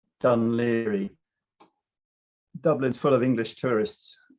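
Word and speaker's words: Dún Laoghaire: done leary which is spelt these days as seen on the left but pronounced done leery dublin's full of english tourists asking where dunloguer um so damoloko spent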